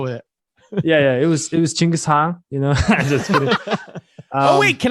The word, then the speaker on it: Genghis Khan: So what is the original pronunciation? Genghis Khan.